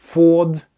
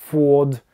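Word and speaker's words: Ford: Форд. Форд. Только не произносите букву «Р», хотя американцы, скорее всего, её произнесут.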